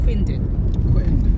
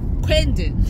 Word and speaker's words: Quendon: Veritas Sports Club on Quindon. Chongs insists it's pronounced Quendon. Because it's Q-U-E. Yeah. But do you say the Queen People of England? People say Queen. You don't say the Queen of England.